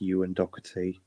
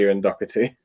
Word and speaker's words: Ewan Doherty: So I just want to quickly say his name is pronounced Ewan Doherty. Ewan Doherty. Sorry, Ewan Doherty.